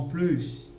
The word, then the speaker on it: plus: Voici donc un autre cas où on va entendre plus avec S. C'est dans des expressions comme à plus, de plus, en plus. Ok? Voilà, dans ces cas-là, on entendra toujours le S, plus.